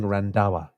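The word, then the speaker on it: Randhawa: randawa randawa okay sorry the D goes as the first syllable the first letter of the second syllable okay you're saying randawa thank you now I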